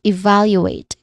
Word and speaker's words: evaluate: So all in all we get we say it is evaluate again evaluate stress on the second syllable.